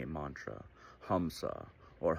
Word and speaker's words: Hamsa: And while we're breathing in and out, we're unconsciously saying a mantra, Hamsa or Hamsa. Now, hum, it's spelled H-A-M, but it's pronounced hum, is short for ahum or I.